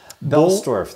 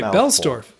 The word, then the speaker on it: Boellstorff: Boellstorff. The first O is silent. It's a mouthful. Okay, Boellstorff.